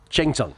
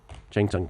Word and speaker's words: Cheng Tsung: Cheng Tsung, by the way. Cheng Tsung Peng.